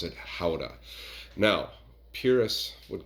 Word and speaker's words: Gouda: a little cheese that we like to call Gouda here in the United States but over in the Netherlands in Holland in a little town called Gouda they pronounce it howa now purists would call it how to and